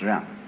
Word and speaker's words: ren: In Confucius philosophy, the fundamental virtue of a human being is called Ren, spelled Jen for reasons best known to Chinese scholars. I don't know what they are, but it's pronounced Ren.